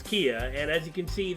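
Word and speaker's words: Kea: to do with this yeah kia don't ask me why it's spelled that way but it's it's kia and as you can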